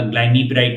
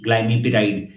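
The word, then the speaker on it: Glimepiride: जो अंदर दवाई का नाम है वो होगा ग्लाइम पराइड के स्पेलिंग है जी एल आई एम आई पी आई आर आई डीई ग्लाइम पराइड ग्लिकलाज इड दूसरी इस ग्रुप की दवाई है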